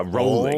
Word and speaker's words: Rowling: bowling처럼 그 스펠링랑 똑같으니까 rolling.